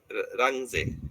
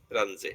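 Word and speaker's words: Runge: তারপরে solve ইউজিং উচ্চারণটা হচ্ছে রাংজে রাংজে রাঞজে রাজে বলতে পারো অর্ডার ফর ফাইন্ড কি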